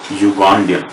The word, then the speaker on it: Ugandan: Because it is not pronounced with vowel U or U, U with Hindi or Devanagari script. It is started with U, Ya. Okay? Because of that, the vowel sound is not there. Only the consonant.